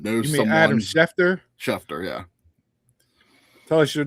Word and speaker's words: Schefter: Next on Donald's was everyone acting like they are an Adam Shafir of pro wrestling. I don't know if I pronounced that right, but most of the time everyone is wrong.